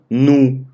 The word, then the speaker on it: no: А sábado, domingo у нас заканчивается на у, поэтому будет ну. То есть по-русски пишем но, произносим ну. Ну sábado, ну domingo. Окей?